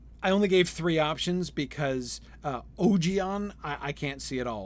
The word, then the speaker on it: Ogion: that's how it's pronounced, Ogion. And I particularly like that because, of course, there are a couple reasons why. One, it's just kind of more fun. And 2, because it almost rhymes with Obi-Wan then, which I kind of like.